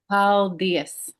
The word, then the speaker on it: paldies: paldies.